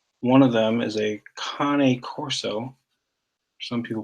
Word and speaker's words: Cane Corso: two big dogs one of them is a Connie Corso some people pronounce it cane corso which is the big Italian Mastiff that we